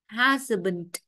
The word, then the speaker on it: husband: Còn đáp án D, cái chữ cái A đó phát âm thanh ơ. Husband.